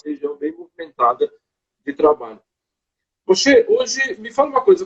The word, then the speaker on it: Moshe: O nome Moshe em hebraico, tem duas maneiras de ser pronunciado, né? O mesmo nome, depende do costume, depende da origem, da região. Então, tem alguns que chamam de Moishe e tem alguns que chamam de Moshe, né?